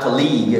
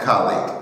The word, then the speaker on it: colleague: collega in Spanish but in English the pronunciation is colleag so the stress is on the first not colleagu no colleague colleague and it's very different the way it's written Yeah.